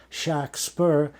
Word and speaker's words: Shakespeare: it was phonetic and because he said Shack spur they wrote shaare not to be mean to the name of shakspeare because if he had said shakspeare well they would have written Shakespeare you know it's as